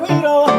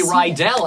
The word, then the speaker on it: Riedel: Michael Riedel. Thank you. At least you pronounce my name right. They usually say Riedel, and I always say it rhymes with needle, because that's what I do.